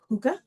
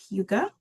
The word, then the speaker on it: hygge: So, the pronunciation is huga. Oh, huga, right?